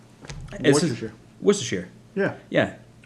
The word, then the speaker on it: Worcestershire: Garlic and Worcestershire, Worcestershire. Worcestershire. Yeah. Yeah. It's not Worcestershire. You have to glance over the syllables.